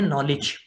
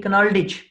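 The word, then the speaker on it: knowledge: को आप कहते हैं नॉलेज। अगर अल्फाबेट्स या लेटर्स ही डायरेक्ट की हैं प्रोनाउंसिएशन की, तो इसे तो होना चाहिए कनाल्डिज, नॉलेज तो नहीं होना चाहिए, कनाल्डिज होना चाहिए।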